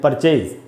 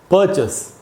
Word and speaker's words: purchase: लोग क्या पढ़ते हैं, जनरली हम पढ़ते हैं परचेज। जैसे हम बोलते हैं परचेज करना है, परचेज मैनेजर, परचेजिंग डिपार्टमेंट या परचेज डिपार्टमेंट। दोस्तों, इसका जो सही उच्चारण है वो है परचेस।